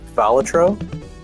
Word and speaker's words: Balatro: I am playing, fuck, I just went over how it's pronounced. It's Balatro.